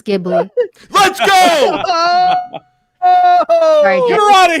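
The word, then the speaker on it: Ghibli: care I don't Careo actually said it right It's gibli let's go get out of here where'd she come from I didn't say he said it wrong I just said jibli I think the boy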